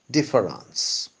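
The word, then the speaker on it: différance: create the word difference the word is not audible because it has the same pronunciation as its original but it's visible because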